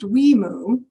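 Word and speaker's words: WIMU: For anyone who is wondering, the resulting name of this program is pronounced WEMU.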